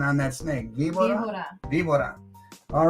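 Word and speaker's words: víbora: will get their choice of the snake, the Vibora, or the caballo, the horse. The snake or the horse. Mrs. C, how about You're practicing your Spanish tonight? I'm trying. Give me better pronunciation on that snake. Vibora.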